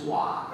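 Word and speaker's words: Hwa: I said, my name is Wah. And she looked at me in a way that our dog looks at our kids when they're holding a cookie. I said, I'll spell it H-W-A-Wah.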